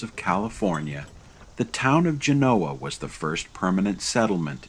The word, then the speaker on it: Genoa: birthplace of Christopher Columbus however locally it is pronounced Genoa in 1861 it briefly served as the first